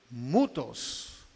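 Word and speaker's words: μῦθος: las fábulas la fábula del griego mutos con acento en la u mutos th mutos relata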